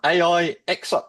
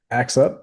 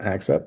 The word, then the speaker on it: AIXUP: AIX up. Is that the right way to pronounce your new branding name? Axe up. Yep. Axe up. That's the name.